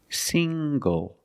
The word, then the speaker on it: single: also this word single single the n g makes the nasal sound plus the hard G single single I'm not